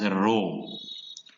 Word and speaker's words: rho: small r and it is a greek letter pronounced as rho it is a popular method of calculating